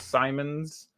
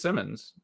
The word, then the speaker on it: Simmons: Burke and Simmons which everyone calls Simons oh sorry Simons Trey Burke is no it's Simmons it's just spelled Santos and weird and that's yeah it